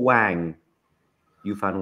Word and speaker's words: Wang Yafan: Is it Wong or Wang? Yafan Wong. These pronunciations on the Chinese, and I know you live in Wong.